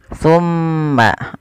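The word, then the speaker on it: ثُمَّ: Cara membacanya ditahan suara mimnya. Thumma. Nah, langsung ke ta. Thumma takhadtumul. Ini jangan summa takhadtum, jangan diidghamkan ke huruf ta, tapi zalnya ditampakkan dengan jelas.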